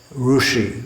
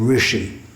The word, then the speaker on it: rishi: Rushi, they'll say, for instance, instead of rishi.